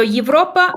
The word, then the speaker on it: Европа: So Европа в Европе.